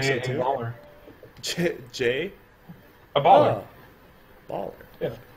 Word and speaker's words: Jaya Ballard: Jay? A baller. Oh, baller. Yeah, Jay, a baller. The D is silent, obviously.